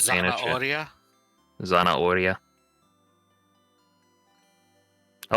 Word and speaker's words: zanahoria: According to Golux, or according to Sergeant, you don't pronounce the H in Spanish. Oh, you do not pronounce the H so in it's Spanish? Zanahoria?